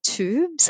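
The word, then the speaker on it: Twobs: It's a brand called Tubes. I hope I'm pronouncing that okay.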